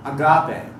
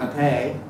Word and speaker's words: agape: by many Christians of agape. I like to put the emphasis on the last syllable because we know more